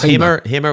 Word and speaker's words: Hamer: Is that how you pronounce the guitar? Yes, Hamer.